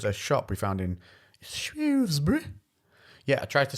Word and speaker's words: Shrewsbury: I was saying Shrewsbury. Yeah. But it's because I wasn't saying Shrewsbury. Because it's Shrewsbury. Right. That's how the locals say it.